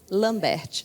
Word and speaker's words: Lambert: escreve com T Lambert também com t no final mas é que o t é mudo eh atualmente eu sou